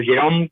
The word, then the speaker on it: Gerome: Está en línea con nosotros Eduardo Jerome, que lo conocemos, o Jerome, como se pronuncia, ex juez, abogado, y con él queremos charlar.